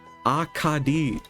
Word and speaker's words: Akadi: Akadi. Is this how you say it? Akadi. That's how you say it. Okay. I have a few clerics of Akadi here.